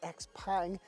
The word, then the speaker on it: XPENG: It is spelt XPENG, but actually it seems to be pronounced XPENG, and this is the G6.